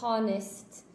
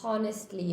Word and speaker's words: honest: We don't say honest or honestly, okay? It's honest.